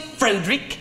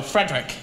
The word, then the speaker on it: Frederick: Then your first name, do you pronounce it Fredrick? No, Frederick.